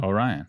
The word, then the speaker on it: Orion: would one it was one time can you pronounce it now just so that we know oh Ryan thank you yeah it was one time I